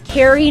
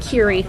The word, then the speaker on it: Kerry: It's Kerry, not Kiri.